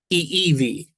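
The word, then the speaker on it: ʻIʻiwi: I'm gonna show you that EE. So the the I gives a a long e sound then you stop and then e e v w is pronounced as a v in in Hawaiian.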